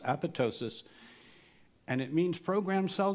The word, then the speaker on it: apoptosis: are marked for apoptosis it's spelled with a silent p but it's pronounced apoptosis and it means program